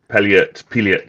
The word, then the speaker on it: Pilliet: I went on Google and Googled up his how to pronounce his name, and Pilliet seems to be the way.